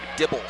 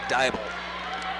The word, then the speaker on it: Dybel: pronounce it anyway, but do not say Dibble. I guess PA announcers across the state have said Dibble. It is indeed Dybel.